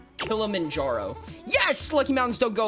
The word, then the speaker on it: Kilimanjaro: I'm going to assume hike mount Kiljarno. Kilamanjaro.